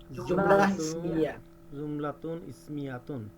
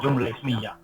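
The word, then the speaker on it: جملة اسمية: জুমলাতুন ইসমিয়াতুন, জুমলাতুন ইসমিয়াতুন যেটা ঠিক আছে, কিন্তু আরবরা এইভাবে বলবে না, আরবরা বলবে জুমলা ইসমিয়া। ইসমিয়া শেষে এই টাটা হা হবে।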